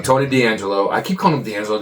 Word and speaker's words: D'Angelo: Then there was a part, I said his name wrong last week, and I don't know why I always say his name wrong. Tony D'Angelo.